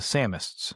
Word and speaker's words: Samists: So Samist like the Sam like Sam Wise Gamg like summer of Sam.